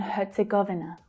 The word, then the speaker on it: Herzegovina: So herz. Hear the T sound that's added there. Herz, herz, Herzegov. That's the stress syllable.